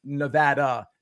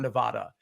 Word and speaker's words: Nevada: You say in Reno rooting for Nevada, pronounced like dad, not Dodd. In other words, Nevada, not Nevada.